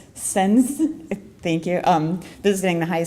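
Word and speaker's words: Sáenz: Sens, thank you.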